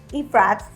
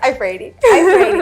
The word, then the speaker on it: Iafrate: so I want to introduce you to iprats right yes is that how you pronounce it yes I prayed it okay thank you please tell our listeners